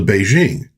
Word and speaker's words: Beijing: And then they changed the name of the capital to Beijing. No, it was always Beijing. In Wade Guiles, a P is pronounced as a B and a K is pronounced as a J.